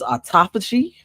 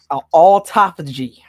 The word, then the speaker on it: autophagy: health issues and uh I think this is autophagy uh a u t o p h a g y autophagy I believe that's how it's pronounced wait one more time autophagy spell it again uh a u t o